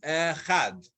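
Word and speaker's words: אחד: oh, it's not. Echad. The dalet is silent. Echad.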